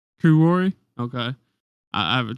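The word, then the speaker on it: Kuroi: Kuroy Kurori.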